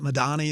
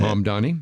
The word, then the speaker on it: Mamdani: New York City with, is it Madani? Is that how you say it? Mamdani, M-A-M, Downey, Mamdani.